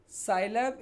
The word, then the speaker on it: Scilab: Scilab is pronounced as Sci, that is scientific, and Lab, that is laboratory.